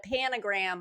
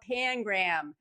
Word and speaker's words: pangram: spelling be and they call it a panogram but it's not spelled that way it's spelled pangram you know make them say it correctly so that was pretty